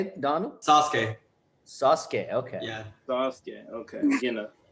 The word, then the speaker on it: Sasuke: Sasuke.